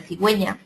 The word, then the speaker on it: cigüeña: cogido será con g además debemos poner diéresis a la u esos dos puntitos cuándo deba pronunciarse esta letra y la g pronunciar sexual como en cigüeña pingüino ahora tenemos el uso